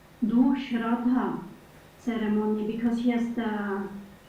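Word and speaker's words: श्राद्ध: It is not Shraddha, it is Shraddha.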